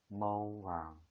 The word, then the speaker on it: màu vàng: 이것도 내려가는 성조. 그래서 màu vàng, màu vàng. 읽을 때도 성조를 지켜서 màu vàng이라고 읽으면 돼요.